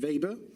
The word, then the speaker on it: weber: this is flux and the unit is the weber you might think that says weber but it's pronounced weber and the unit looks like at WB so